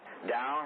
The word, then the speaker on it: Tao: the way, or the Tao. Now, from this day forward, you don't pronounce the T, it's as though with a D, all right?